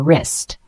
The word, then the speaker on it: wrist: It's pronounced wrist. Synonyms include joint and carpus. For example, she wears a watch on her wrist.